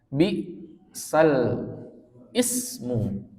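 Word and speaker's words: بِئْسَ الِاسْمُ: Bisal ismu dibaca bisalismu. Jadi harokat yang ada pada alif, ya, bisal i itu kan harokatnya kasrohnya di alif ya, dipindahkan ke huruf lam, gitu, ya. Bisal ismu dibaca bisalismu.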